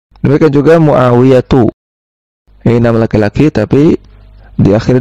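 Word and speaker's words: معاوية: Demikian juga muawiyatu. Ini nama laki-laki tapi diakhiri dengan ta marbutah. Sehingga cara bacanya Muawiyatu bukan Muawiyatun.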